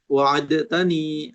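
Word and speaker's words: وعدتني: Dibacanya diidgham saja dalnya kata wa'adta. Wa'adtani gitu ya, wa'adtani. Bukan wa'adtani, wa'adtani an asuma hadzal 'ama ya abi. Bagus, ada tasydid di atas huruf ta-nya.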